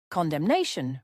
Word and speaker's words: condemnation: Condemnation refers to the expression of strong disapproval. It is often used in political or diplomatic contexts. For pronunciation, note that it is stressed on the second syllable, condemnation.